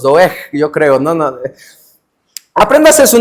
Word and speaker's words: Doeg: Doeg. Sí, ¿verdad? Sí se pronuncia así la G. Doeg. ¿Cómo? Doeg. Tiene una G al final, hermanos. Doeg, yo creo.